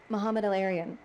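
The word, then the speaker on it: Mohamed El-Erian: I don't know if I'm pronouncing the name correctly, and you can correct me. Mohammed El-Arian? Mohammed El-Arian.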